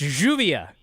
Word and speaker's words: Lluvia: Brian, say this name, Lluvia. That's Juvia.